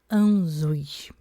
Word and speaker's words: Ansuz: Nome Anzuz, pronúncia Anzuz.